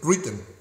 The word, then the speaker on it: written: Written. Okay, the Constitution was written. Haz de cuenta que pronuncias R-I-T-N. Written.